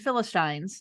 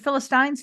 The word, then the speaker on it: Philistines: so after virgins and Philistines is it Philistines Philistines I I happen to know from being a public radio listener that both are correct pronunciation okay all right all